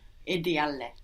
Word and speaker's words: ideale: Non è ideale. Good, but careful not to pronounce 2 L's on the end there. Ideale. No, we want to say ideale. Non è ideale.